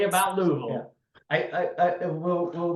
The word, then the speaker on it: Louisville: do you say it louville say say say it like you got golf balls in your mouth Louisville I can't Louisville Lille